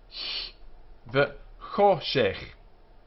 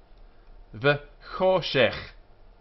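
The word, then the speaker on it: וְחֹשֶׁךְ: V'choshech, and this here is the harsh sound at the back of the throat, like loch. V'choshech. This is sh, and this is the ch sound. We don't pronounce it k as in book, but ch.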